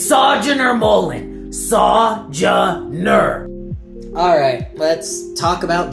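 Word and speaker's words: Sojourner Mullein: I don't even want to try pronouncing Joe's name and writing all of that down today. Oh, it's okay. It's Sojourner Mullen.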